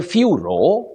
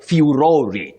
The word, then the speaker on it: furore: You say furor or furore.